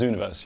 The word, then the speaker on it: Zooniverse: Zooniverse? Yeah, this is Zooniverse, yeah.